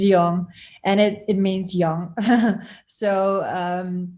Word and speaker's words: Jong: You pronounce it perfect. It's young, and it means young.